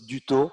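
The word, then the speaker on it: Dutau: And by the way, you pronounce my name well, because it's Duthau. Yes, in French, A and U sounds O.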